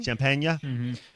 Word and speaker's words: Champagnie: like story within the story and uh Julian Champagnie, is that how you say his name? Champagnie.